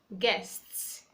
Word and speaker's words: guest: it's after Gene as those words we have guests guests Rajee is silence we have guide guide